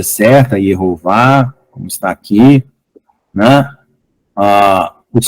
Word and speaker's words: Jeová: A palavra, aqui, em algumas traduções, foi colocado como Jeová, mas o J, até o século XVII, era pronunciado como I, por isso que a pronúncia não é J, Jeová, tá? É Yehová, tá bom?